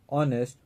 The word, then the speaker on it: honest: umbrella an R an honest man and higher it will be noticed that the word r honest higher begin with a vowel sound as the initial consonant H is not pronounced 108 before a word